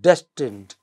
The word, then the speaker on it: destined: In the word destined, des is the stressed syllable, not tend.